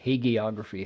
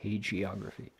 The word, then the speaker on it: hagiography: Hagia Is it a hard G or a soft G? How many people say hagiography? How many say hagioraphy? Probably both are okay.